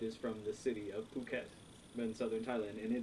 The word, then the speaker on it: Phuket: this beer is a Phuket beer phuket yeah it do not pronounce it the way americans would pronounce it because it would say